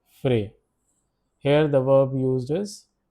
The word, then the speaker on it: frais: Pronunciation is frais.